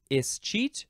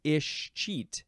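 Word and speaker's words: escheat: word is is Che you can pronounce it uh with an is or an is at the beginning is cheat or ish cheat it's subtle it's a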